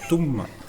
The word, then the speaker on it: Touma: Esmeralda l'a mieux prononcé, c'est Touma. Touma. Parce qu'il y a deux M, ça fait Touma.